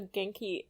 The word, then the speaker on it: Ganke: Yes, because I kept pronouncing it wrong for, like, the longest time. Genki? Genki, yeah. Yeah. I've been saying Ganke in my head. Yeah, I've been saying Ganke because everyone else said Ganke knows. Then people are like, you're saying it wrong.